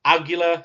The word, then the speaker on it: Aguila: I'm terrible with pronouncing names, damn it. Aguila, yeah, help me out here.